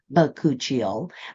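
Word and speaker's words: bakuchiol: me many weeks to learn how to say bakuchil but that's how it's pronounced it's a hundred percent natural it does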